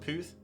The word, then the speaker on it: Perth: Oh yeah, isn't there Perth? Is it pronounced Pooth?